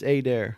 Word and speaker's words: Adair: It's a long A. It's Adair. Adair. Yeah, okay. but it's said both ways.